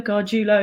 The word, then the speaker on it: Gargiulo: Gargiulo is how you pronounce my surname.